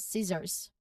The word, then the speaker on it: scissors: Now the C is silent here, so it's pronounced as scissors with a buzzing sound.